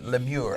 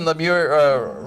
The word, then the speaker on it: LeMieux: Good to have you here, LeMIEUX. I just want to pronounce that that name as French as I can. Did I do all right? It's just fine. All right, thank you. LeMIEUX, Resident Arts.